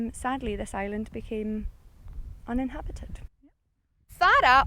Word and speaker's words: Fara: Fara, or Fay-ra, as the locals call it, the correct pronunciation.